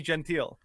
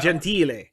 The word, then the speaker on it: Gentile: Gentile? Yeah, Gentile. Yeah, so Italian. Yeah, but it's pronounced Gentile. No, it's not. Okay, well, whatever. Giovanni Gentile.